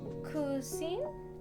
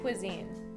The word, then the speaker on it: cuisine: Oh, cuisine? It's pronounced cuisine, Kiana.